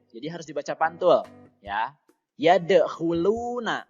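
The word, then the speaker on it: يَدْخُلُونَ: harus dibaca pantul ya ya the huluna lo itu dibaca panjang namanya adalah Made Thobi'i panjangnya dua harokat saja Kemudian yang selanjutnya see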